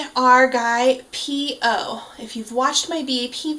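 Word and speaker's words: P.O: and uh that P is very aspirated so it's a very distinct p o um and then his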